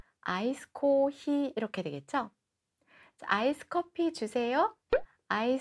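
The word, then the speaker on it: コーヒー: 드렸었는데 기억나세요 자 그러면 커피는 뭐라고 하냐 코 다음에 장음 시 다음의 장 응 코 5c 이렇게 발음을 하시면 되는데 여러분 아이스커피 는 아이스 코 히 이렇게 되겠죠 아이스커피 주세요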